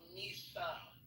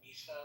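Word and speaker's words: Mhysa: Why is it called Misa?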